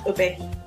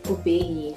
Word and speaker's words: Obehi: So, Obehi, when did you start makeup? Yeah, this is my friend and she doesn't know my name. My name is Obehi. What's Obehi? Obehi.